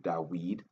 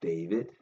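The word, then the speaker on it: דוד: states that our King d pronounced now vernacular in in the Paleo Hebrew dweed not David just like Elijah was elu Isaiah the same right so we understanding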